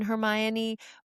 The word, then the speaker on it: Hermione: Rowling because in the fourth book, she had a Romanian character who had a crush on Hermione, but he was calling her Hermonini. Yeah. And J.K. Rowling did the pronunciation Hermione because I guess she was finding out that nobody was calling Right.